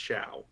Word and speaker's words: Shaw: He's British, you understand. That's why it's pronounced Shaw. Ah! Yeah. Is that like Unless you're- Sauron? Like, Unless you're from a different region of Great Britain, and then it's pronounced completely differently.